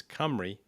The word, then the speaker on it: Cymru: So if someone, so now it's interesting, it's Cymru, but yet just for the people that are listening, it's spelled very different if you're looking for it.